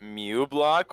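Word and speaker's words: uBlock: It's actually pronounced that, so you pronounce it Mew block.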